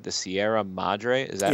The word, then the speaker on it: Sierra Madre: Treasure of the, I'm hoping I'm pronouncing this right, the Sierra Madre. Is that right? Yes. The Treasure of the Sierra Madre.